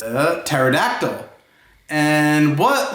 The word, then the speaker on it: pterodactyl: that's right it's a pterodactyl and what letter does pterodactyl sound like it starts with two right right it sounds like it starts with the teeth but what letter does it really start with that's right a